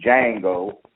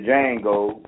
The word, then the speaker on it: Django: What we need is a Django, the D is silent, to come here and do something about it.